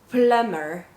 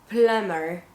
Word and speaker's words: plumber: example is cram cram plumber plumber so here you have your examples remember m plus b the b is silent and it's also silent